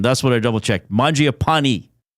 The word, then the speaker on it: Mangiapane: Mji a pani. E, not nay at the end.